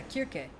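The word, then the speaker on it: Circe: Yeah, Kirke. There's no soft C in ancient Greek. If it's a C, it was pronounced with a K.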